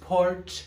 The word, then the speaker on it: Portia: Hi, I'm Portia, pronounced Porch.